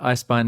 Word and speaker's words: Eisbein: So yeah, you’ve pronounced right, Eisbein is correct, named after the dish eisbein.